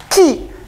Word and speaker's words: chi: Ki itu bukan X ya, ki bacanya, CHI, ki.